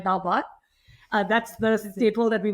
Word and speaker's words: dal bhat: Yeah, you said it right, dal bhat.